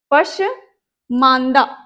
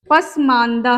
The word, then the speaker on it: पसमांदा: सा जिन द गान, पशमांदा, है ना, पशमांदा क्या है, पसमांदा है।